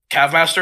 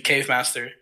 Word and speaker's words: Cavemaster: And people always pronounce like Cavmaster wrong because it was supposed to be Cavemaster. But everyone pronounced it wrong, and they pronounced it Cavmaster, but it caught on